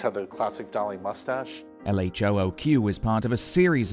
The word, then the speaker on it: LHOOQ: Duchamp made several versions of LHOOQ, letters which, when pronounced in French, sound like a phrase meaning she has a hot bottom.